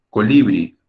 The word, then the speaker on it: colibrí: también les pasa no se pronuncia colibrí de producto colibrí te das cuenta de que la sílaba tónica la sílaba fuerte es la última como es aguda como